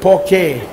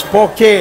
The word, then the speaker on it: poke: to make sure that we say like it's 4k and not poke you know i've had